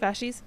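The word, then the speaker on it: fasces: That's what what is it, fascist? Is that how you pronounce it? Fascies.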